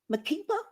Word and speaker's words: Makeba: Barack Obama, Maya Angelou, and Miriam, I think it's pronounced Makeba.